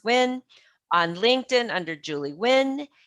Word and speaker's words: Nguyen: on facebook at julie newton and it's spelt n g u y e n but pronounce nguyen on instagram at juju love j-u-j-u-love underscore n-g-u-y-e-n pronounce win on linkedin under julie nguyen and at her